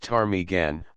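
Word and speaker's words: ptarmigan: shot squirrel rabbit and tarmigan pronounced tarmigan a bird of the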